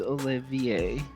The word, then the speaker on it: Olivier: Technically, it is Olivier and you're kind of a piece of for saying it wrong.